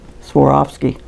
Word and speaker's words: Swarovski: These are Swarovski crystals, and the way you pronounce that is you swore off skiing, Swarovski.